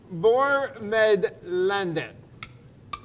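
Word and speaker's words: Bo med landet: That's how you say it, Bormedlandet.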